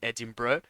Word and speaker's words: Edinburgh: official cutter of the Red Bull land in Edinburgh I apologize but the pronunciation is wrong and all the years no